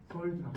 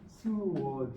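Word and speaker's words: sword: 그래서 공을 영어로 썰드라고 합니다. 그러니까 어떤 분은 이걸 발음을 하라고 했더니 스워드 이렇게 발음하시는 분이 있는데 틀렸습니다. 이 발음은 썰드. 이렇게 발음주가 이렇게 돼요. 스워드가 아니에요.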